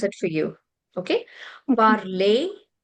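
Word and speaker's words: parler: it for you okay parlay the ER sound would become a sound okay elongated a parl so so so R would be silent yes I would be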